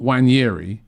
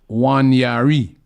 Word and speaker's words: Nwaneri: Prince A says, Robbie, Lee and Julian, for the umpteenth time, it's not Wanyeri, it's Wanyari. It's Nwaneri.